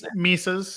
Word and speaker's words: Mises: And a lot of the reading I did after that was reading how do you pronounce it? Mises, whatever. Mises, yeah.